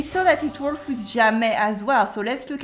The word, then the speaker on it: jamais: Je ne sais jamais. I never know. Repeat after me. Je ne sais jamais. Again, je ne sais jamais. The S at the end of jamais is silent, okay?